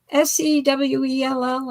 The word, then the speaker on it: Sewell: Sewell, is that the That's right? You pronounced it right.